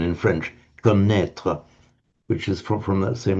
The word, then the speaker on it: connaître: And in French, connaître. Again, you drop the G, but write it with a double N in French. Connaître, which is from that same root.